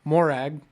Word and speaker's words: Morag: It's a soft A.